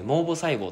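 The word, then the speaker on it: 毛母細胞: 毛根の部分に毛母細胞って言ってだけの母て帰ってもうボって読むんですけどこの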